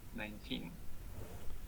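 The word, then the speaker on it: nineteen: And another example is, for example, the word 19 in isolation has stress on the second syllable, 19.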